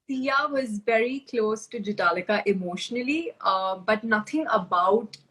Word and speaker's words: Jhataleka: name is pronounced as jitalika the h is silent so for anyone who's